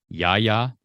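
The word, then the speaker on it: Yahya: of that defensive line how do you say black's first name i believe it's y a i used to say yeah i used to say yaya but i believe it's y a y a okay why um um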